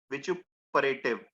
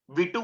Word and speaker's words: vituperative: Vituperative. It is pronounced as vichu, है ना? Vitu मत बोलना, बिट्टू नहीं है ये, vitu vitu नहीं है, vichu है, vichu, vituperative, vituperative.